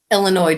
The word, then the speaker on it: Illinois: then of course um Illinois don't pronounce the S at the end Thank You Melinda let